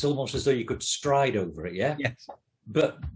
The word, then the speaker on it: Strid: Strid. Yeah. Which, yeah, we would say strid, but it's pronounced stride by the...